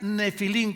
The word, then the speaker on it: Nefilim: Había Nefilim, con PH, como suena, Nepilim se escribe en el hebreo, se pronuncia Nefilim, como si fuera F de Francisco.